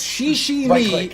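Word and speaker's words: Shiximi: It's she me, but it's spelled S H I X I M I.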